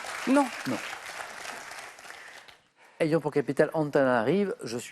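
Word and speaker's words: Antananarivo: Ayant pour capitale Antananarive, il y a un O à la fin, mais normalement on ne prononce pas, je suis Madagascar.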